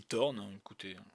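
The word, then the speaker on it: Thorn: la Fiance à torn moi je dis Tornes certains mais moi je on est en France on mange pas on prononce pas le H donc quand on l'a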